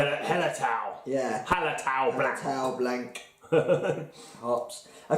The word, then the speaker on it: Hallertau: Hallertau Blanc.